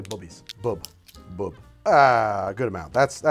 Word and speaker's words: Bubby's: And actually, I'm pronouncing it wrong, by the way. If you ever see that, it says Bubby's. It's actually Bubby's.